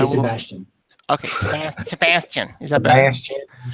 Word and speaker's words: Sebastien: Friends call me Seb, Oh, but if you say it full, it's Sebastien. Sebastien. Jen. So don't say it like this. Just say I will. Sebastian.